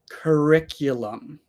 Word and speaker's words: curriculum: connects them kurck yum curriculum so there is that little Y sound after the C RI and um one